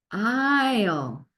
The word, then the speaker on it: aisle: It sounds like you're saying I, oh, I, oh, long I, oh, I, oh. You don't really hear the A, you don't hear the S, you don't hear the E, aisle.